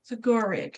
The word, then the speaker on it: Zagoric: Zagoric, that's how you say it.